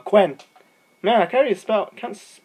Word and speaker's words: Quen: Not Quinn, Quen.